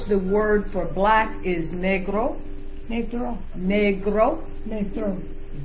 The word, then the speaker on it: negro: In Spanish, the word for black is negro. Negro. Negro. Negro. G, g, g. Say G. Make a hard G sound. G. Hard G. G. Like go. Go. Go. Yeah. Go. So negro. Negro.